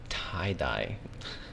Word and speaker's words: 大: Tie-dye. Why do they tie-dye? The way they pronounce it is like for English speakers, tie-dye.